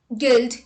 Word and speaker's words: guild: U is not pronounced when it comes after G and before a vowel. Let's look at the examples. Guess, guidance, guitar, guest, guild, guard, etc.